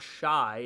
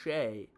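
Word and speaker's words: Shai: I hear Shy. Bro, it's not Shy. It's Shea. Shea.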